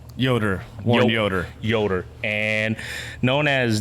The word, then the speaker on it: Yoder: how do you say your last name yoder yoder yoder and known as yes